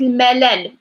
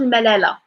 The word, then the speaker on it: الملل: If you said like for example correct like correcting me but it's like الملل not الملالة.